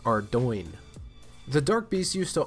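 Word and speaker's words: Ardougne: doing most of you may know it as our dune our Don are dug me but according to the jagex mods it is pronounced our join the dark beasts used to only be found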